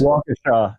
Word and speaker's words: Waukesha: Waukesha. It's pronounced Waukesha.